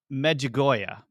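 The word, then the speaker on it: Medjugorje: it's called The Miracle of the sun in magoya I actually pronounced that correctly I looked up the pronunciation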